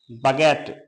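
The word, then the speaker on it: baguette: कब साइलेंट होता है तो यू साइलेंट होता है जब यू के बाद आपका ई हो ए हो आई हो यानी ए आए ई आए या फिर आपकी आई आए अगर आपको यह वर्ड मिलने हैं यू के बाद ए आ जाए ई आए या आई आए तो वहां पर यू आपका साइलेंट रहेगा जैसे बगेट माने लंबी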